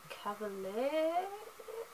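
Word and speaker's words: Chevalier: a Pearl Earring by Tracy Cavalier, I'd like to say is how it's pronounced, and The Night Circus by Erin Morgenstern.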